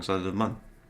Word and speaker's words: Mun: Or the MUN. Sorry. It could be moon, but it's spelled M-U-N. No, it's MUN. I hope it's MUN. It is MUN.